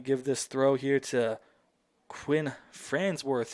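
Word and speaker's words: Kwynn: here to Quinn Fransworth, who first name is spelled very differently than what you'd expect from Quinn. Normally you see Quinn, you think Q-U-I-N, maybe Q-U-I-N-N. She's got it spelled K-W-Y-N-N. Very unique spelling of it, but the same name either way.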